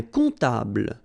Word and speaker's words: comptable: Un comptable, so OM, remember, it goes like on, all right? And then, strangely, this P is not pronounced.